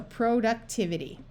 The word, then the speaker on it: productivity: So here we're going to try the long O sound, short U, short I, and a long E because it's at the end of a long word. So productivity.